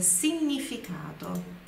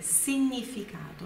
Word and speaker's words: significato: Olha a pronúncia, significado. Significado. Não se diz significado em italiano, é significato, significato, ok?